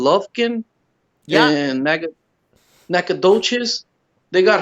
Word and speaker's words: Lufkin: Lovekin? Yeah, Lufkin, Texas. How do you spell it?